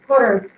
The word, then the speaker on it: Qatar: I can't remember the name of it, but that has been superseded in Qatar, which is how you pronounce that.